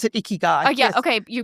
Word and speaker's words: Ikigai: But Ikigai. Have you heard of No, them? I haven't read Okay, that one. so it's the Japanese. Oh, I pronounce it Ikigai.